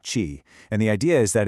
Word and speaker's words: qi: This energy is called qi, pronounced qi, and the idea is that it's this vital life force that flows through, well, everything.